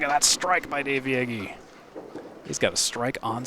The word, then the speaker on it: Yagy: I almost said it wrong, but I said it right at the end. Dave Yagy, confirmed by Dave Yagy himself.